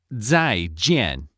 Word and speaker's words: 再见: Z is pronounced z, so the sound is 在. J is pronounced ji, so the sound is 见. Do you want to give it a try? 再见.